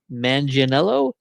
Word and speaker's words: Manganiello: Joe, I always get his last name wrong. Manganiello, Yeah.